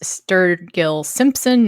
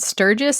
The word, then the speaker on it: Sturgill Simpson: this was wrong but the guy's name is Sturgill Simpson not Sturgis Sturgis is a place